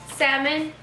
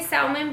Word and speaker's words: salmon: Salmon. I think I say salmon. I would always say salmon because in Spanish it's salmon, but it's salmon.